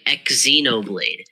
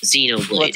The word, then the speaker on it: Xenoblade: say oh my God you're saying exoblade like no it's just it's just Xenoblade not ex okay you are not